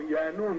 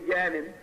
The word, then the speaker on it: Yanun: And so you just happen to mention one who was very powerful, Yanun, his name is. They say Yanin, it's pronounced Yanun, depending on the dialect of what galaxy you're in, the pronunciation changes.